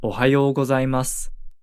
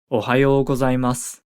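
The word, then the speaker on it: おはようございます: say good morning is Ohio gozaimasu Ohio gozaimasu you might notice that we don't really pronounce the final u vowel sound at the end of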